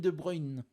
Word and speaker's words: De Bruyne: Kevin De Bruyne. Kevin De Bruyne. De Bruyne. De Bruyne. Oh, il le fait bien, hein. Il fait bien l'accent belge, hein.